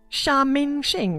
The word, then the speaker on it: Sha Mingxing: His name was Sha Mingxing, right? Sha Mingxing. Sha Mingxing. Oh, so this is how you pronounce it.